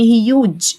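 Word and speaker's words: huge: هارد ناعم يعني صفت ضخم يعني هيوج هيوج الاي في الاخر لا تنطق صوته عالي لاود لاود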